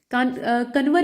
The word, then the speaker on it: कांवर: ठीक है, कन्वर या फिर कांवर आप कह सकते हैं, वही चीज है, प्रोनाउंसिएशन का थोड़ा अंतर है।